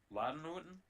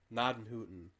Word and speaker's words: Gnadenhutten: test is if you can get somebody to pronounce Gnadenhutten right. Ladenhuten? Gnadenhutten.